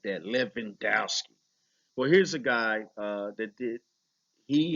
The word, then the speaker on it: Levandowski: Let me say it like that, Levandowski.